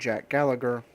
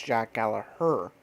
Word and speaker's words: Gallagher: in that match and Jack Gallagher I'm sorry I got I've been pronouncing it wrong I learned on TV is not pronounce how it is spell it is Jack Gallaher taking the no decision